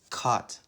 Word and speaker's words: caught: Caught. Caught sounds like bought and brought.